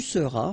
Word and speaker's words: seras: Je serai, tu seras, final S not pronounced, il sera, elle sera,